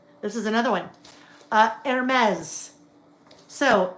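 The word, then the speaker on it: Hermès: Uh, Hermes. So, H E R-S, the fashion brand. It's Hermes, not Hermes or Hermes.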